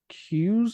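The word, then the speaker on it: Cuse: few people um carlton i think it's queues is how you say it c-u-s-e yeah yeah carlton keys and d-t-g-o damon lindelof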